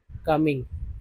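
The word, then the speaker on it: calm: एल एम को माँ बोलते हैं, इसमें एल जो है साइलेंट है, एल साइलेंट अगर है तो मान लीजिए सी ए को का बोलते हैं, एम को माँ बोलेंगे, तभी तो काम लिखते हैं, काम, काम।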